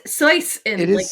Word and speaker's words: Seuss: It's Seuss in It is Seuss. Swiss, Yeah. I thought but you were Dr. Seuss. my pronunciation.